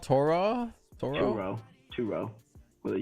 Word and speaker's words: Turo: It's Turo. Turo. Turo. Oh, Turo. There you go. Yes, Turo sushi. Oh yeah, we gotta schedule sushi. Omakase. We'll find spots. What's it called? Toro? Turo.